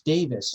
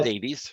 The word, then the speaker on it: Davies: get it wrong again i'm pretty sure it's davies right it's davies no that's what i'm